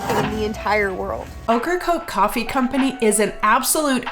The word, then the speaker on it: Ocracoke: Ocracoke, okra and coke put together, the vegetable and the drink.